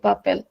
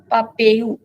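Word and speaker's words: papel: pronounce it इन ब्राज़लियन in European जैसा लिखा है वैसा ही प्रोनाउंस करेंगे पपेल ब्राज़लियन में कुछ अलग हो जाएगा क्या होगा नो पपे पपेयू it will sound like a यू पपे से यू यस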